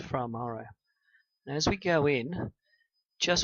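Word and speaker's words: Fra Mauro: the mission Apollo 14 to fra Maro it's pronounced fra Maro as we go in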